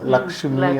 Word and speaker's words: லக்ஷ்மி: இப்போ லட்சுமி லட்சுமி நம்ம சொல்கிறோம், லக்ஷ்மி அப்படின்னு சொல்லி நம்ம சொல்கிறது கிடையாது. கவிதா அப்படின்னு சொல்லி அந்த உச்சரிப்பு.